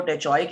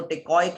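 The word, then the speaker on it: teichoic: Charlie, इसको जी मुख्तलिफ तरह से प्रोनाउंसिएट किया जाता है। सो इसको टेचोइक एसिड भी कहा जाता है और इसको टेकोइक एसिड भी कहा जाता है।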